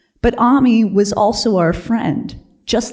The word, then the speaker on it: Ami: I loved her name because it rhymes with mommy, but Ami was also our friend, just like the word meant in French.